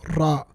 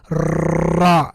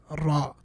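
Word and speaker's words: ر: Repetition. Don't go overboard, obviously. So ra. Don't be like ra. No, don't go overboard. Just ra.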